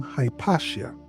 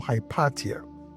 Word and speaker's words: Hypatia: So you would hear about the name Hypatia or Hypatia, depending on how you want to pronounce it. Makes no difference.